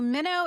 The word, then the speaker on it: Minno: So Minnow is spelled Minno. It's actually an Anglican spelling for the Greek word meno, which means to abide.